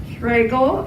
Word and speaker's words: Schragal: And tonight we have Schragal, and I know how to pronounce it because it rhymes with bagel.